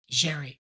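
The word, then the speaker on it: Xerri: Cherry.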